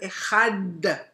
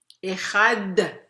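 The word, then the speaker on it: אחד: Echad con Dalet, único. Elohim es único en el Shema, no es una Resh.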